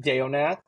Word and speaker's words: Deonath: Facebook is Deonath. That's spelled CoteDeonath, like the Banana Boat song Deo Nath.